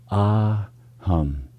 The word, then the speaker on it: aham: And one of the simplest and most potent mantras is simply 2 syllables, AHAM, AHAM.